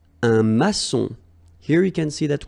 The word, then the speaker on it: maçon: Here you can see that we've got this little cédille beneath the C. Okay. And it just means that you will pronounce this C as S. Okay. So that's the reason why. It's un maçon. Son. Okay. O-N in your nose, nasal.